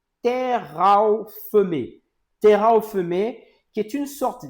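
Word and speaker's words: תרפים: Donc au au sens étymologique, en hébreu, ça se prononce terraophemé.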